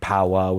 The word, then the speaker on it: Powa: And just calling it Powa with the AH, like the New England pronunciation.